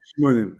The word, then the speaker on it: Scimone: Simone, SC en italien, c'est chaud. Oh, Simone.